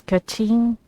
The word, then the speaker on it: Keqing: Oh, so it's keqing? So that's how you pronounce her name, actually.